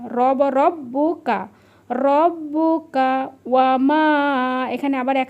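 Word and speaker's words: رَبُّكَ: এই আর পাশে এমন থাকলে কিন্তু আইন উচ্চারণ হবে। মনে রাখবেন আকা রব্বুকা। র ব ডবল ব আছে রব ব এরিতে বু ককারে কা রব রব্বুকা রব্বুকা ওয়ামা এখানে আবার এক আলিফ টান হবে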